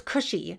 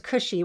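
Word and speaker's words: Kushi: um the word is kush well it's cushy which actually means a descendant of kush and in in the greek we spell it k-u-s-h-i it's greek letters which it's greek to me i don't know what the greek letters mean but the transliteration is cushy which means descendant of cush so this same greek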